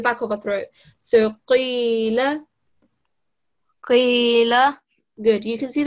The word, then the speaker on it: قيل: But since it has a kasra underneath, we need to make sure that it's still a thick letter. So we pronounce it from the bottom of our throat.